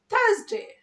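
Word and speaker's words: Thursday: থার্স, এই যে থার্স, এই থার্স এর আরটাকে উচ্চ রাখতে হবে এবং এস এর এখানে আমরা জেড বসিয়ে দিব, তাহলে কি হবে? থার্সডে, থার্সডে। তাহলে থার্সডে না কিন্তু থার্সডে, থার্সডে, থার্সডে কে আমরা তাহলে স্মার্টলি কি বলবো?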